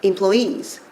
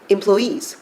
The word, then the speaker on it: employees: 근데이 단어는 주의하실게 employees. employees 또 가능합니다. 강세 두 가지 다 가능하다.